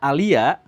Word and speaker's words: Alea: Jadi saya sebutkan misalkan kalau ada nama alea dibacanya alia kan a le e-nya dua gitu ya.